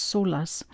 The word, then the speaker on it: Solace: it's not the store last but it's actually pronounced solace and the element is water the planet is